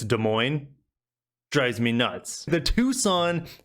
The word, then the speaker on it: Des Moines: It's like people in the Midwest or people who outside the Midwest call the capital of Iowa Des Moines when it's Des Moines.